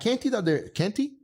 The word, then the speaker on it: kente: Well, let me tell you, if we take a look at what she's, you know, that Kenti, that's how you say it. Kente, the kente that they have, this is not kente that from the dollar store.